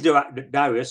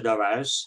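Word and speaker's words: Darius: this wow it pleas darus or daras I I said both pronunciations are acceptable it pleas daras to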